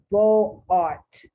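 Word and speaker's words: Beaux-Arts: Beau art. I know that's not how you pronounce it correctly. It is English now. I'm speaking as if I'm speaking it in English, not in French. In French, you probably wouldn't even recognize what I just said.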